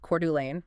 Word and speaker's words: Coeur d'Alene: in Spokane and Coeur d'Alene, and uh that's pronounced Coeur d'Alene for anyone who might be new to the region.